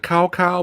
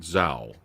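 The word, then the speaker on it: Cao Cao: the it looks like it looks like cow cow but they're pronouncing it zao yeah so like yeah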